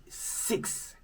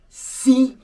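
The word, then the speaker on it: six: It now become 6 cahiers. 6 cahiers. No more 6. The S is silent when the number is followed by a word beginning with a consonant.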